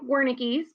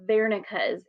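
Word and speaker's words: Wernicke: three it looks like Wares but the correct pronunciation is Vera area this is one of those German words W makes a v Sound vero's area is what helps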